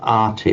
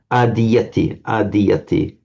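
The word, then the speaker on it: ādiyati: Sometimes when we see this ati ending, people want to pronounce it, or if you're an English speaker, you kind of fall into pronouncing it as an arti, like Maserati, you know, so ati, adiyati. Adiyati, right.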